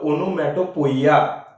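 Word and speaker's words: onomatopoeia: तसा उच्चार करा लागल जनरली त्याचा उच्चार हा ओनोमॅटो पिय असा त्याचा उच्चार आहे तर मग पण चिव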